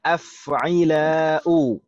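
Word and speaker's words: أفعلاء: wazn yang kedua ada af'ila'u. Af'ila'u. Huruf pertamanya adalah huruf hamzah, fathah. Huruf keduanya sukun, huruf ketiganya kasroh, huruf keempatnya fathah panjang.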